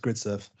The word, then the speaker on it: Gridserve: That's pronounced Gridserve.